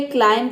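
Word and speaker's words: climb: यहाँ पे एम बी एक साथ आता हुआ तो यहाँ पे बी साइलेंट रहता है। केवल हम एम को प्रोनाउंस करते हैं। यहाँ पे देखिए सी एल आई एम को प्रोनाउंस करें, बी साइलेंट है।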